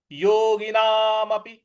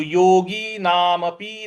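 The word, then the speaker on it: योगिनामपि: योगी नामपि सर्वेशाम सर्वेशाम देखिए योगी ग पर छोटी इ की मात्रा है नामपि प पर छोटी इ की मात्रा है तो योगी नामपी नहीं पढ़ना है इसको योगी नामपि योगी नामपि ऐसे पढ़ेंगे सर्वेशाम सर्वेशाम देखिए स सर्वे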